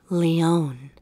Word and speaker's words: Lyonne: How exactly do you pronounce the 6th word? Leon.